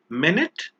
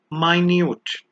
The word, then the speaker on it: minute: The next pair is minute and minute. Both are spelled exactly the same way but have different pronunciations and different meanings. Minute is 60 seconds and minute means tiny.